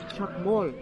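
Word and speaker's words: Chac Mool: Chakmol. Chak, that's what teachers used to write on the board. Mol is like the animal that lives underneath the ground. That's how you pronounce it, but it's spelled differently.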